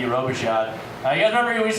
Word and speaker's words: Robichaud: pronouncing my last name it's uh r-o-b-i-c-h-a-u-d roboshot you guys remember we